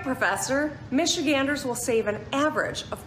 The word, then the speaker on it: Michigander: Michigander, yeah.